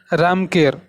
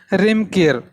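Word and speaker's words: Reamker: Now here is a famous version of Cambodia, that is Ramkir, or they pronounce as a Remkir.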